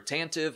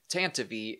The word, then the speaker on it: Tantive: asteroid storm and yes that is how you pronounce tanty I myself prefer tantive I always called it the tantive for but Lucas film has come out and said tantivy is the correct way to pronounce it so